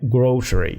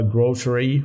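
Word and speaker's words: grocery: كلمه جروشري جروشري جروشري جروشري لها نطقين الاثنين تقريبا مستخدمين يعني هي في احصائيه اتعملت بنسبه تقريبا في حاجه 48% وفي حاجه بتستخدم بنسبه ا 52% في يعني تقدر تقول كده نص الناس بينطوها جروسري ونص الناس بينطوها جروسريز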